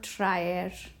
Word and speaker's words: traer: So the A is strong and the is strong. So both of those are going to form two syllables. So this is a syllable and this is a syllable. It's a two-syllable word.